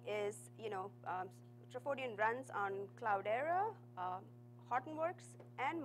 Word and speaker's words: Trafodion: Trafodion stands for transactions in Welsh, and it's pronounced as Trafodion.